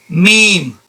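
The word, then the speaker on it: م: Meme. Meme. The way you pronounce the meme is by using the same articulation point as ba, but the difference is, to say the letter ba, you apply more pressure.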